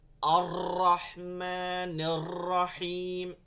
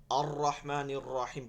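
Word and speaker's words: الرحمن الرحيم: এগুলো পড়া যাবে না মানে হচ্ছে র এর মধ্যে কোন ভাইব্রেশন আসবে না আর রহমানির রাহিম এটা কিন্তু আসবে না কোনভাবে অনেকেই পড়ে ঠিক আছে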